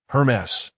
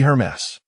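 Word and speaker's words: Hermès: Taking the bracelet and scrutinizing it for a while before slowly pronouncing Hermes. Xiaophone gently shook her head with a smile. Your pronunciation is incorrect. It should be Hermes.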